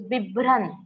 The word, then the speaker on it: बिभ्रन्: There are some important words, that is bibran. Bibran, this is double n and not tr.